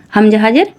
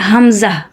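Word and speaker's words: همزة: হাম ইহদিনাস সিরাতাল মুস্তাকিম হামজা হাজের আশা করি বুঝতে পারছেন মাখরাজ গুলি কত সুন্দর করে আমি বুঝিয়ে বুঝিয়ে বলছি আপনারাও আমার সাথে থাকেন আর বলতে থাকেন এটা হামজাহ হামজাহ এখানে কোন টান হবে না হামজাহ এভাবে উচ্চারণ করতে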